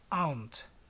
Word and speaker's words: aunt: Aunt. Aunt. Nunca, bajo ningún punto de vista, va a ser aunt. ¿Se acuerdan cómo se escribe? No, es aunt. Sin la U. Aunt. Muy parecido a hormiga.